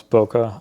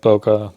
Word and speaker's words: bokeh: There's a few different ways to pronounce bokeh. I like saying it bokeh. I think it's bokeh or something like that is the actual right way to say it, but it doesn't really matter.